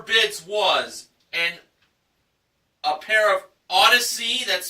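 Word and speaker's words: Audeze: Okay, our next item up for bids was a pair of Odyssey, that's spelled A-U-D-E-Z-E, handcrafted magnetic headphones with case included, plus a 160 gig Apple iPod Classic included.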